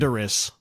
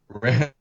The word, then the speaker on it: Landorus: Give me an example and tell me if it rhymes with Talent point. Randoris. Landorus.